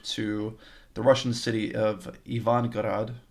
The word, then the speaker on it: Ivangorod: Petersburg to the Russian city of Ivangorod, which I'm half guessing on the pronunciation of because I only saw it in writing, but it's either okay. I'm pretty sure it's Ivangorod. Okay, the bus ride takes 2.5 hours.